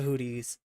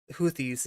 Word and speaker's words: Houthis: this is their opinion they're supportive of the hoodies damn it I there we go hoodie and the Blowfish no I know it's houthis is the way it's pronounced I don't know